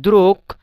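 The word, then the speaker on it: друг: তো এখানে দেখেন দ্রুক মানে গে এর উচ্চারণটা কিন্তু ক এর মতো হয়েছে, আর এটা কিন্তু গে এর উচ্চারণটা গ এর মতোই হয়েছে, দ্রুগ, দ্রুক, দ্রুগা।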